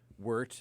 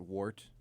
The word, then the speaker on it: wort: Wort is pronounced wort, not wart.